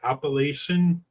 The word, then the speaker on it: Appalachia: So, if I threw an apple at you, that's how they say it. It's Appalachian. If it's Appalachia, then we know they're from like New York or something.